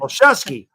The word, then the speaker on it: Olszewski: Olszewski.